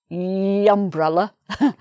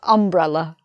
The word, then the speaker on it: umbrella: You can see here, umbrella also begins with a U, just like university, but it's not pronounced umbrella, it's pronounced umbrella.